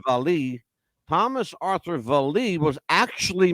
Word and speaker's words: Vallee: that Thomas Arthur Vallee, and that's how his name is pronounced. I thought it was Vallee, but it's Vallee.